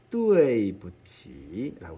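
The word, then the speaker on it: 对不起: 이 발음을 그 뚜이라고 하지 말고 뚜에이, 유와 아이 사이에 이런 정도의 음을 갖는 소리가 들어있다. 그렇게 생각하면서 발음해 달라는 부탁을 한 적이 있었죠. 뚜이가 아니라 뚜에이부치, 미안합니다.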